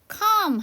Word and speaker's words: calm: 자, 했더니 calm 하게 되면 진정시키다라는 동사고요. 여기 L 사운드는 묵음이에요.